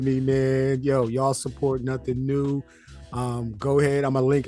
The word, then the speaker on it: Nothing Neue: It's pronounced Nothing New, yo. Yo, my guy, I appreciate you for tapping in with me, man. Yo, y'all support Nothing New.